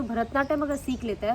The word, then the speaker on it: भरतनाट्यम: Wrong spelling लिखते हैं, वो लिखते भारत, हाँ वही मैंने बोला भारतनाट्यम, भारत और नाट्यम लिखते हैं, वो भारतनाट्यम नहीं है, वो भरता है। भरता यानी कि भरदा, प्रोनाउंसिएशन इज भरदा, तमिल भरतनाट्यम।